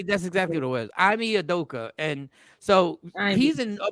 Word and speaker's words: Ime Udoka: I mean, Adoki. Emi, you Doka. How do you? Yeah, Ashley, that's exactly what it was. Ime Udoka, and so he's in a bunch.